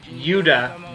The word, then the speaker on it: Yuda: That is not true, because actually there's one character named Yuda, but spelled like Judah, except with an without an H at the end, who is not someone Kenshiro ever fights in the show.